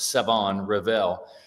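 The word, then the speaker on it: Shavon Revel: Savon Ravel that's right there's no there's no h in the pronunciation of it's Savon Revel and big long cornerback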